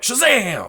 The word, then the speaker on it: Shazam!: sivana it has an exclamation point so you have to say it like Shazam now I haven't actually